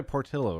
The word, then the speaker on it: Portilho: I'm joined right now by, although you go by Portillo, right?